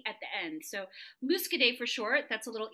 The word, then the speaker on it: Muscadet: muscade aman and so you know you always pronounce the n or the ending consonant if there's an e at the end so musk a day for short that's a little easier for us